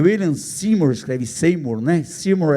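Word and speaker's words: Seymour: Seor é a pronúncia correta.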